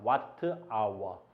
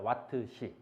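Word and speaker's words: Wh: 왓트 아워. 근데 우리나라 사람들은 이걸 뭐라고 읽냐면 이걸 시간을 사용했다. 그래서 시라고 읽어. 시라고. 시로 왓시 이렇게 구별하기 위함이야. 초와 시를 구별하기 위해서 이걸 왓시라고 읽는 거야. 왓트 시 알겠니?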